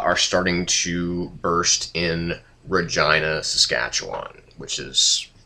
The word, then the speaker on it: Regina: i n a and it is pronounced Regina yeah we know so get your jokes out of the way so basically Omega flight